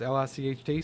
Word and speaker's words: Licht: Is that just another way to pronounce Light? It's Licht.